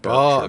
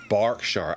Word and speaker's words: Berkshire: No, it's not Bure because it's got an E in it. Barkshshire. Ah, right. Okay. It's got it's got an E, so it's pronounced Bark.